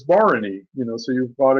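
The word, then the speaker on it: Bharani: terrible way I mean I used to call Barney baharani you know because that's what it looks like when you spell it but it's Barony you know so you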